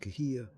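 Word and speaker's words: Cahuilla: Most likely she is a Kolilan, pronounced Kahia, a tribe of Native Americans who once lived on that land.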